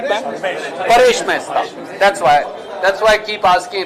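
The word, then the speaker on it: Paresh Mesta: Reams of news space were spent on Ramesh Mehta, if I'm pronouncing the name correct, right, ma'am? Paresh Mehta.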